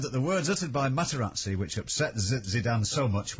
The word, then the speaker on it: Materazzi: Materazzi. I've told you, it's just say what you see. Say what you see. Okay, Materazzi.